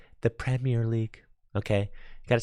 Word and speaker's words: Premier League: Europeans in the chat started telling me I was pronouncing Premier League wrong. They're like, sorry, it's Premier League. Tricky Jim, sorry, you can't call it the Premier League. It's the Premier League, okay?